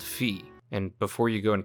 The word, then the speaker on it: Fi: loyal the correct pronunciation when you put the vowel I at the end of anything in Latin is actually supposed to make an e sound instead of an i